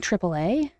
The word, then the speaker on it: AAA: If for TripleA I said it right, didn't I? Triple A. Ah. Yep. Although they're always saying AAA on NXT. Like even Lola says AAA and I'm like is